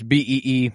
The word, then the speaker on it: Beebe: It's Beebe. Beebe. 𝗀𝗏𝗏𝗏𝗏. 𝗀𝗏𝗏𝗏𝗏. I was going to go Debo Beebe.